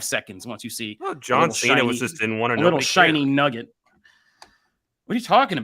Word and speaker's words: John Cena: It's John Cena.